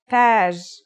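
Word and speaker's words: تاج: Taj.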